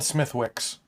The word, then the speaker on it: Smithwick's: So, Spelled Smithwicks. yeah. Pronounced Smithwick's.